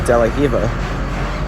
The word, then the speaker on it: De La Riva: we worked on today is called deiva it's actually spelled deara but I don't know if it's a Portuguese thing or Brazilian thing all the whenever a word starts off with r it's pronounced with a as an H